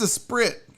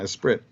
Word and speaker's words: esprit: it is like that it's e-s-p-r-i-t e-space that's a sprit yeah a sprit the sprit and then d e how do